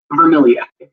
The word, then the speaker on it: Vermilyea: Sorry, Vermilia, if I say it right. Vermilier.